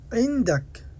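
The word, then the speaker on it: عندك: ইনদাক, ইনদাক, ইনদাক বলবেন না, আইনের মতো উচ্চারণ করবেন, গলা থেকে আসবে, এটা কণ্ঠস্বর থেকে। ইনদাক, যে তোমার কাছে, আমার কাছে।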